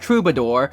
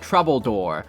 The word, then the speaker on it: Troubadour: Apparently it's pronounced Troubadour, but the guy who narrated the trailer for this game pronounces it Troubledoor.